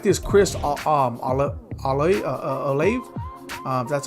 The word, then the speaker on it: Olave: I do like this Chris Olave.